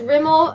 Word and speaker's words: Rimmel: a drugstore lipstick it's from Rimmel I always mispronounce that sorry but it's Rimmel the Kate Moss Edition and it's in the